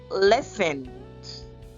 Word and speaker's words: listened: Listened. The T is silent. Listened. Awoke.